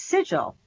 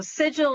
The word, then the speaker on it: sigil: but that's not how you say it it's sigil right yes so dual is correct then there